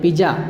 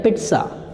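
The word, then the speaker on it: pizza: ये इसको आप पिज़्ज़ा बोलते हैं, पिज़्ज़ा। आज तो मैं मार्केट जा रहा हूँ पिज़्ज़ा खाना, जबकि राइट होता है पिट्सा, पिट्सा, पिट्सा, पिट्सा।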